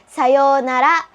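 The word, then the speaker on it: さようなら: Katulad po sa ohayo gozaimasu, meron pong u, pero yung tamang pronunciation ay sayonara. Pinahaba lang po yung yo.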